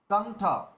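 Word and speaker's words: কণ্ঠ: কি হবে চঞ্চল আচ্ছা তারপরে দেখুন ক অনুস্বর ঠ কন্ঠ তো এটা উচ্চারণ করার সময় আমরা কন্ঠ উচ্চারণ করি কেন? কেননা অনুস্বরের পরে ঠ রয়েছে। ঠ হচ্ছে ট বর্গের থেকে এসছে। ট বর্গের থেকে আসলে কি হবে? মূর্ধা ন এর উচ্চারণ করতে হবে।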